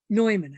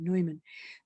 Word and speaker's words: Neumann: redemptorist so he knew neumann i guess is how you say his name neumann he knew religious life